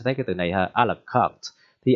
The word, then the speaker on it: à la carte: Rồi cái từ đầu tiên bạn thấy rất là ghê gớm ha, thì cái từ này nó là xuất phát từ tiếng Pháp mà ra, bạn được đọc là à la cà te, đừng đọc như vậy